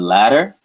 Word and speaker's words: ladder: English the D and the T in ladder butter edit the tongue makes a similar motion think about it this